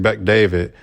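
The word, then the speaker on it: Bet-David: where Patrick uh yeah Patrick David yeah that's how you say his name Patrick Beck David had made a post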